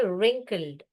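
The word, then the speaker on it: wrinkled: का फेस कैसा हुआ रिंकल रिंकल इसको डब्लू साइलेंट है यहां से पढ़ना चाहिए रिंकल्ड रिंकल्ड तो रिंक एंड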